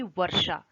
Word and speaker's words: वर्षा: अब जैसे मैं इसको बोलूंगी वर्षा, मतलब जो र का साउंड है वो श से पहले आ रहा है, पर इसलिए हम उसको आगे लिखते हैं और हाफ इसको बोलते हैं।